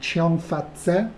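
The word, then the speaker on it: Cheong Fatt Tze: or think in Chinese is called cheong fatt say yup with pronouncing it right and this was originally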